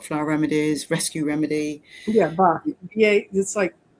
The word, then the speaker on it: Bach: Yes, many different ways to pronounce it. The purists say bark, depending on whether, anyway. So bark flowers is is what I've said for many years. That's what Americans would say.